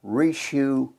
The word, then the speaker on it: Richoux: please introduce yourself what is your name and spell it for the audience please my name is rishu senior it's rishu is